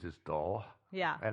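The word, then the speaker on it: Dull: english town names is doll yeah and it's actually spelled the way it's pronounced d-u-l-l and they're the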